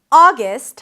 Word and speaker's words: August: August has two syllables. The first one is ah, as in father, ah. You can also round your lips to something more rounded, like the daughter vowel, ah, ah, and then gust. A gus sound, a schwa, an S and a T. Gust, gust. September has three syllables.